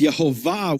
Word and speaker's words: Yehovah: But in the full form of the name, YHWH, it's Yehovah with the emphasis on the end, on the final syllable.